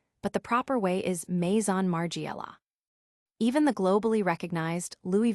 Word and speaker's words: Maison Margiela: Mason Margiela often gets simplified to Margiela but the proper way is Maison Margiela.